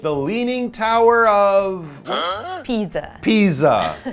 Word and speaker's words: Pisa: Pisa, not pizza.